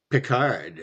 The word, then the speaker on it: Pickard: Yeah, they pronounce it Pickard, which is weird. Like Pickard, Calvin Pickard, because it has a K and the CK.